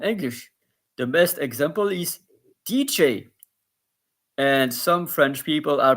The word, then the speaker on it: DJ: the best example is DJ and some French people are pronouncing it D or D G but uh I advise to pronounce it in English because it's a DJ this so here I